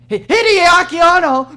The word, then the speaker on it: Hideaki Anno: How to pronounce Hideaki Hideaki Anno!